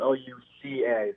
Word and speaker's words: Luca: now my uh my name is actually spelled l-u-c-a so okay okay but is it pronounced luca though yeah i appreciate the love